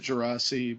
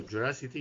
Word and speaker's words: Geraci: you pronounce it uh it is Italian we pronounce it jasi but that's mostly just because we're lazy Americans and we're not going to get people to pronounce it correctly okay so jity is actually a quite